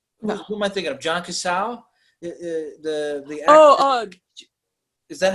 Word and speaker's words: Cazale: John Casal, the actor. Is that how you say his name? Yeah, Johnny Cazale.